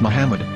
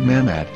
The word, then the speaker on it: Muhammad: yehuda's hebrew english dictionary it is correctly pronounced as muhammad not mahmod so how we're going